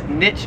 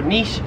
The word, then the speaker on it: niche: 44 is niche, or niche. So in America, again, Americans say this both ways. I've heard Americans say niche, I've heard Americans say niche, but it's pretty common to say niche. I myself have always said niche, but in Australia, no one says niche. It is niche here in Australia.